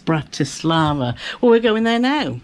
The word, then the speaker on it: Bratislava: There's an I between the T and the S. Bratislava.